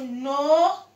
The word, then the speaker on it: know: let's go on to know I know and yes yes people use them incorrectly this know with the K silent K because n is decided